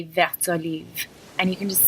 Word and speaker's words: vert olive: But when they're together, it's vert olive because the T is followed by a vowel, so you actually pronounce it when it's together like that.